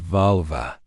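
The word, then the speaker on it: völva: The volva, pronounced valva, was a Cirrus, a woman thought to possess the ability to commune with spirits, foretell the future, and manipulate fate.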